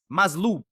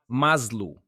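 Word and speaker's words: מסלול: And the word is maslul. Mazlul. Mazlul. That's exactly how you pronounce it, guys.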